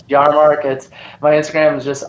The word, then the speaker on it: Yahrmarkt: name my last name is terribly hard to pronounce and spell but it's jar markets my Instagram is just r y a h